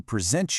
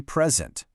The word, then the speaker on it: present: I want to present you with a present. Did you hear that? Same exact spelling, right? P-R-E-S-E-N-T, but two totally different sounds.